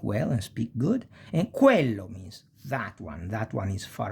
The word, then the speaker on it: quello: qui, quercia, eloquenza e quello, that. E si pronuncia più o meno, we pronounce it more or less like quiver, quiver.